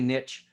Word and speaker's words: niche: by the way there there is no right or wrong way niche or niche they're both fine some people like say niche because it rhymes with rich the riches are in